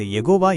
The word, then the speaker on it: யெகோவா: மிக பழமையான உச்சரிப்பை நாம் நம்பகமாக மீட்டெடுக்கும்போது அது யெகோவா என்று அறியப்படுகிறது.